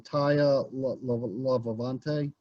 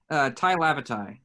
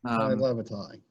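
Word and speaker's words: Tai Lavatai: be Xavier Arlen or, and I'm going to say this name wrong, Taya Lavavante? Ty Lavatai. Ty Lavatai.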